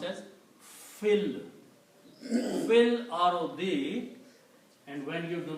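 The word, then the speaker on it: في الأرض: And when you read them together, you combine this fa with the lam and you pronounce fil. You do not pronounce this alif in there. It will be pronounced as fil. Fil ardi.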